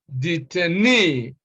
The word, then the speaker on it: detainee: e right e now such words are stressed on the first syllable from the end that is the last syllable and words like this